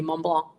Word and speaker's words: Mont Blanc: So actually, your pronunciation is outstanding when you pronounce minus the C, Mont Blanc.